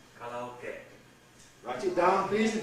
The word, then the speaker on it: karaoke: Now why karaoke? Well, we impose an English stress pattern on it. We take this O as the stressed vowel.